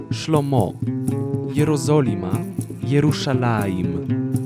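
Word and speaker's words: שלמה: pokonał dawid i goliat okolic salomon syn dawida szlomo szlomo jerozolima nie rusza na im już alarm już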